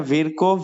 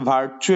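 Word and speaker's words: Virchow: microphone গুলো mute করো ওকে বাংলা এখানে তিনটা রূপ আছে একটা ভিরকো ভার্চু এবং আমরা এই ভিরকোর কথাটাই মনে রাখবো ঠিক আছে এটাই সঠিক উচ্চারণ তাহলে দেখো আমরা প্রথমেই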